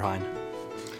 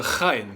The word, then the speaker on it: Heyne: my good friend Hein what's up thanks for having me here yeah the way you pressed my last name wrong it's actually a high yeah so today we're